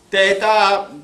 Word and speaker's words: teta: Teta corrisponde nella pronuncia al TH che è aspirato che hanno gli inglesi, Fang, ok? Anche chi ha fatto il classico normalmente la legge come T, ma non è T, è TH.